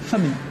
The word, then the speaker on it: Fameni: Après le jingle, là, on reçoit Fabrice et Flora Famille. Je prononce bien?